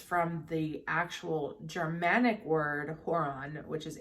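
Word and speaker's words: hoer: hor originally derives from the actual germanic word horon which is h-o-r-o-n meaning one that desires in old norwegian however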